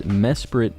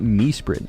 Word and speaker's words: Mesprit: favorite fella uh but I do pronounce it as Mesprit not meit I say Mesprit as well cuz that's how it's spelled all right I'm Going